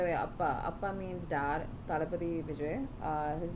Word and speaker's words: Thalapathy: Talapati is a title that Makkal, the people, have given him for the work he's done. And so it's spelled Thalapathy space Vijay. And I say that Talapati